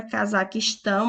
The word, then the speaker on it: Cazaquistão: nós temos Cazaquistão eu a palavra Cazaquistão assim como Afeganistão também é oxítona porque a sua última sílaba é a mais forte a Dinamarca EA